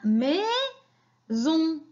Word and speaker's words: maison: Entre deux voyelles, comment je la prononce? Je la prononce z, hein?